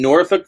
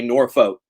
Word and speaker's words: Norfolk: I'm in Norfolk, Virginia. Ooh, Which and I've only recently learned how to, or developed the ability to pronounce. My redneck ass wants to say Norfolk. It's Norfolk. Norfolk.